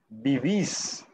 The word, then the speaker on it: vivís: Lo único aquí, en el vosotros, tenemos que pronunciar esa tilde, ese acento. Entonces, en el caso de trabajar, trabajáis, coméis, vivís.